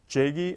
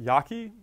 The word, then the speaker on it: Jaeggi: I know that looks like Jagi et al., but it's pronounced Yaki et al., 2008.